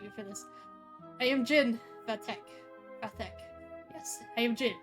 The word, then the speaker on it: Zin: I will call him Zin. I can't stand it either. But that is the literally the actual way to say his name is Jin.